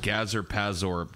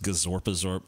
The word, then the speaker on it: Gazorpazorp: yeah dude good old Gaza pass orb dude it's pronounced gazorpazorp all maybe where you're